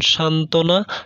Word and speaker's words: সান্ত্বনা: বফলা অন্য কোনো যুক্ত ব্যঞ্জনের সঙ্গে যুক্ত হলে বয়ের উচ্চারণ অনুচ্চারিত থাকে, যেমন সান্ত্বনা, সান্ত্বনা, দ্বন্দ্ব।